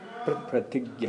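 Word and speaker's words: pratijna: Pratigya. Pratigya. P-R-A-T-I-J-N-A. Yeah. Pratigya. Pratigya. Bengali pronunciation is pratigya. So we follow Prabhupada.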